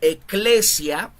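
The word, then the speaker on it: ἐκκλησία: iglesia viene de de un término griego sí que es eh se pronuncia eclesia y que significa los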